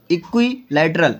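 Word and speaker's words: equilateral: हाँ, इसको प्रोनाउंस के लिए अलग अलग किया करो, इक्विलैटरल।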